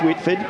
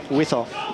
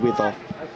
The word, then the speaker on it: Withoff: paid and offered to, Withoff. Sorry, I pronounced it wrong the first time, but now looking at the notes, I think we're going to go with Withoff.